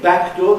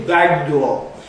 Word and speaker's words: back door: Instead of saying back door, they say back door.